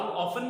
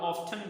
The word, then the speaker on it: often: सो हाउ ऑफन भी पढ़ सकते हैं और हाउ ऑफ्टन भी पढ़ सकते हैं।